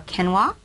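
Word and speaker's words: quinoa: take a look at are kenoa uh it's spelled Qi n o a uh amirth spelt and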